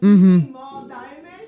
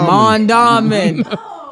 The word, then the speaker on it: Mondawmin: When I first heard about Mondawmin, my cousin said it, and I was like, Mall Diamond? She was like, no. Mondawmin. Mondawmin. That's exactly how we say it, is how it's spelled.